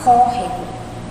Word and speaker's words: córrego: Qual é a sílaba que a gente pronuncia com mais força? Córrego. Olha aí, é o có, né? A gente fala córrego. Então, se o có é a sílaba mais forte, então significa que o acento agudo ele vai nessa primeira sílaba, ou seja, ela vai estar no ó.